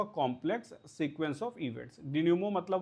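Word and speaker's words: dénouement: इस वर्ड का प्रोनाउंसिएशन है डेन्यूमो, मतलब मैं कुछ आपको लिख के बता दूं, ऐसे समझो, डेन्यूमो, ठीक है, ऐसे इसको बोलना होगा कुछ, डिन्यूमो, ठीक है। ये मेंट नहीं है, MENT, तो डिन्यूमो बस इतना ही है, डिन्यूमो, ठीक है, एम तक, ENT नहीं है, इसका प्रोनाउंसिएशन बिल्कुल नहीं है।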